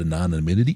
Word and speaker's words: anonymity: takes away of that a lot of that anonymity.